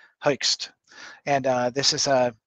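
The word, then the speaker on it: Hoechst: if a specific recommendation there is a guy called herxed it's difficult to to pronounce uh but it's spelled h o e c h s t Heist and uh this is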